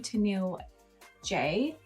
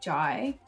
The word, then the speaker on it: Teniell J: Yeah, so I was pronouncing her name wrong. So, it's actually Teniell J, not Jai.